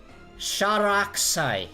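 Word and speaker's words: Sharakusai: Sharaksai. Yes, that's how you pronounce it.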